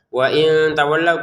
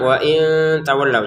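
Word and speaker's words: وإن تولوا: Nah, ini juga wain tawallau. Kita baca dengan samar. Wain tawallau. Jangan wain tawallau.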